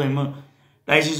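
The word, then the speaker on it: hemoptysis: याद करो, बोलो जब हिमोटाइसिस बोल दो चाहे, लेकिन आपके ध्यान में रहना चाहिए कि पी उसमें है, साइलेंट है, लेकिन आपने साइलेंट रख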